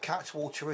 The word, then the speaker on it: Cattewater: I've been assured by somebody from Devon that Cattewater is the right way to pronounce this.